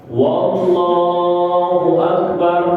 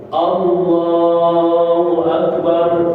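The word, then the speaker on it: الله أكبر: wau sebelumnya lafzul jalalah wallahu akbar salah wallah salah yang benar dia harus menggunakan Hamzah enggak usah pakai huruf wau di awal Allahu Akbar janganallahu Akbar salah karena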